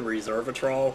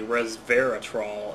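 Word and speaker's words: resveratrol: but I found um something similar to Reser a trol which is actually resvera trol as someone pointed out I was saying it wrong this is I don't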